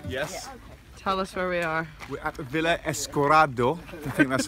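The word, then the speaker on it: Villa Escudero: you know yeah California we're at a villa esta corridor that's how you pronounce it and it's a resort in the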